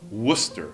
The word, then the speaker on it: Worcester: Mas ao longo dos anos, os nativos simplificavam a pronúncia. Tiraram o RCE e virou, pelo menos em Massachusetts, a gente fala Worcester.